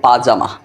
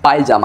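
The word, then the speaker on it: پاجامه: জিরে জামা অর্থ হলো পাজামা যেটাকে আমরা বলে থাকি পায়জামা আসলে সঠিক উচ্চারণ পাজামা পায়জামা না তাহলে বান্দার জিরে জামা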